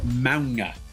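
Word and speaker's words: Mauga: I believe he's Samoan, and his name is pronounced Manga.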